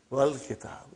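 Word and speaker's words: والكتاب: When it came in front of Hamzatul Wasal, you did not pronounce. You will say, Wal Kitab.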